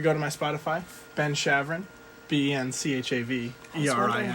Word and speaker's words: Chaverin: to my spotify ben chavron b-n-c-h-a-v e-r-i i don't know how to say your last name chevron two syllables but it's like it really should be three if we're going back